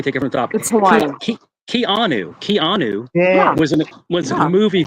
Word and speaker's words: Keanu: Canoe. His name's not Canoe. It's Keanu.